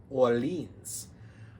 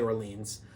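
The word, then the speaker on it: Orléans: Number 6, Orleans. So, or Orleans, depending on how you say it. I say Orleans.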